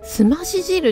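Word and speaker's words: 清汁: 、汁物、すまし汁って読むんだって。清い汁って書いて、また難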